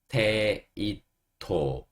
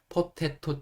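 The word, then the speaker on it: potato: 감자 빼놓 수 없는 야채 어 감자 감자는 포테이토 포테이토 하시면 돼요 포토라 이제 우리가 발음을 해서 그 감자로 만든 과자 중에 포테토 칩이라고 있어요 근데 그거는 테토라는 거는 좀 한국식이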